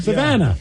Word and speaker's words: Savannah: Her name rhymes with banana. Yeah. Nobody knows who she is. No one has any idea. Her name is Tiana. Savannah.